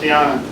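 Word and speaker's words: Dianna: Oh, so it sounds, looks like Diana, but it's Diana. But with 2 N's.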